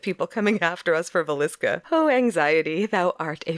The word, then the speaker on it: Villisca: you pronounce it right no it's Villisca mooska Harvey yeah Villisca yep Villisca Villisca yeah you're good fine